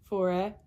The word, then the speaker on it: forêt: And so one example of this is forêt, which means forest.